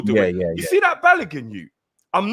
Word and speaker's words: Balogun: Is that how you pronounce it? Yeah, Balogun.